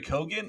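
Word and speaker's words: Keoghan: Tik Tok about saltburn I think his last name is pronounced Co so Barry kogan if I'm correctly saying it he does some obscene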